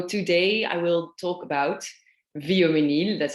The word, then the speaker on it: Vioménil: series and so today i will talk about viomenil that's how you pre pronounce it uh easier to pronounce than chatunu